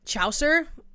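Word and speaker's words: Chaucer: I brought up oh my god and now you guys told me how to pronounce it and I forgot again. Chower I think that says Chower.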